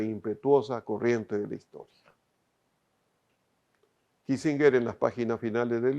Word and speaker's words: Kissinger: guerra del vietnam de henry kissinger yo lo pronunció a la alemana porque en realidad el de origen alemán lo henry kissinger que en su último